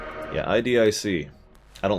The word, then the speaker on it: IDIC: Yeah, IDIC. I don't like saying IDIC. I know that's how it's pronounced. I don't care. IDIC.